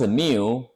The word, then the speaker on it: mu: upper case in a capital in a capital pronounce Mu my code here pronounce a mu again.